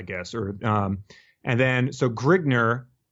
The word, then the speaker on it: Grignr: Or and then so Grignr, are we going to be okay with saying it that way? Yeah, Grignr. Yeah, that's how it. I think it is spelled a couple different ways, but I believe Grignr, yes.